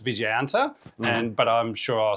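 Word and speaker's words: Vijayanta: Uh the name the Vicas MBT or Viganta, which I looked up and is pronounced Viganta and but I'm sure I'll still get it wrong.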